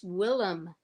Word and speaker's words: Willam: until someone was like it's Willam and like with an e m not a and I was like